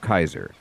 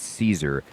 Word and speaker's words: Caesar: or whatever, this the Caesar actually calls himself Kaiser and the main character corrects him like saying, "You're pronouncing it wrong. It's Caesar.